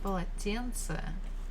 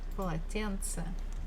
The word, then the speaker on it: полотенце: At the end of the word, we can make it kind of harder. So we actually can pronounce it as буква полотенце, полотенце, полотенце.